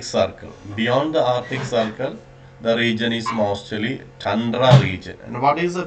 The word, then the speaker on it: tundra: Sometimes in the many people you might have studied about as tundra. It is not tundra. The correct pronunciation is tundra.